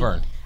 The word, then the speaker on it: Colbern: how it's pronounced, that's how it should be pronounced. So want to make sure that you understand. Colbern.